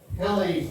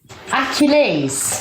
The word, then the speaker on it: Achilles: So Right. Kill. Ease. Achilles. Yeah, no, you don't have to say it like that. I'm emphasising on the word just so you get it right.